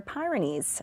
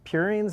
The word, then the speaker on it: purines: He wants to know did you find and forgive me as I pronounce this uh pyramidines or pyreines or other basic bu building blocks of life. Yeah. So I think it's purines and primitines.